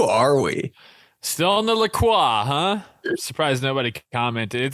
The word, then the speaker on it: LaCroix: Still on the LaCroix, huh? Surprised nobody commented. It's actually pronounced LaCroix.